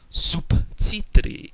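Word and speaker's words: субтитры: cluster undergoes devoicing, and the B is now pronounced as a P. So you get the word subtitri with a very, very distinct unvoiced P in the middle of the word.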